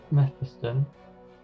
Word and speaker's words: Mephiston: I've noticed that Mephiston, that's how you say it, is a bit watery.